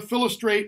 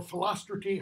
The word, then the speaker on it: Philostrate: Theseus, Hippolyta, Philostrate, or Philostrate, however you want to pronounce it. I've heard it pronounced it various ways.